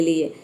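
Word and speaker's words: law: में देखिए यहां पे अगर किसी वर्ड में ए डब्लू आता है तो इसका हम प्रयोग करते हैं ओ के साउंड के लिए जैसे कि एल का लॉ हो गया और ए डब्लू का औ हो गया ये हो गया आपका लॉ ठीक है नेक्स्ट है वाइन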